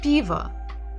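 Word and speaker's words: пиво: first letter is Tre the first syllable is stressed b b so even if we're here at the end sound ah we know that it's probably o because it's not stressed so it will be Piva the final letter is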